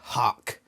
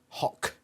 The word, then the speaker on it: hawk: the way i like the way that americans say hawk they say huck huck hawk it's hawk h hotel alpha whiskey kilo hawk not hark god damn americans don't